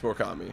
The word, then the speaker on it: Murakami: It's Murakami. That's gonna be an out. Or no, base hit. Sorry, excuse me. I just looked up. Yo, this guy's name's fucking sick. Munetaka Murakami.